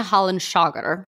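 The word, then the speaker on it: hallanshaker: Right scornfully, she answered him, "Begone, ye Hallenshager," spelled like Hallenshaker, H-A-L-L-A-N, shaker, S-H-A-K-E-R.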